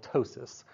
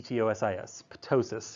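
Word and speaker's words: ptosis: you have what's called tosis with a silent P right p t o s i sis or tosis is where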